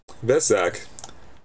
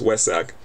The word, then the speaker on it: Vesak: headquarters has been celebrating Vesak sorry it's West Sac selling West Sac it starts to be it's a spelled with a V but it's actually pronounced with a W with West Sac since